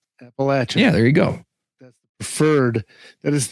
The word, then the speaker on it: Appalachian: here here I got this is the official pronunciation by the way hopefully it'll come through here okay appalachin so it's appalachin appalachin yeah there you go that's preferred that is